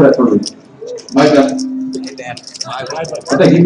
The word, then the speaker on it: Myburgh: Myburgh. I think he butchered it too.